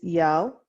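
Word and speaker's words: iel: part combined and so the pronunciation for this is yell kind of it sounds like this that's not the spelling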